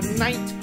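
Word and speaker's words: knight: junior J J Junior K is for night with a silent k l is for laugh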